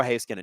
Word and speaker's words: Heiskanen: It's Miro Heiskanen.